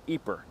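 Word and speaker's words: Ieper: speaking part of Belgium you're more likely to find it spelled i e p r pronounced eer of course the British soers who fought here didn't use either name they called it wipers eer is best remembered today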